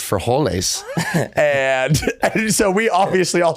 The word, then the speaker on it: frijoles: He's like, that is beans, and it's pronounced frijoles.